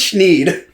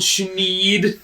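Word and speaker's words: Thneed: It rhymes with need. I think it's schneed.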